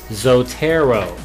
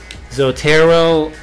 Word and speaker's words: Zotero: The next thing we're going to cover is a software package called Zotero. Zotero. Zotero is spelled Z-O-T-E-R-O.